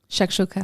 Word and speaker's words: shakshuka: meet and she got shakshuka so it was so on anyway Shuka Shaka sh listen if you're gonna say Shak Shuka you say it right Shak okay so this person